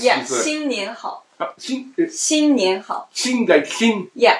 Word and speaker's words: 新年好: If you would, I want to pronounce. Yeah, 新年好.